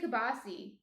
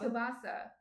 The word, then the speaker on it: kielbasa: Yeah, we say kibasi. Kibasi? Yeah. Maybe I'm saying it wrong, though. No, New Jerseyans don't say it right.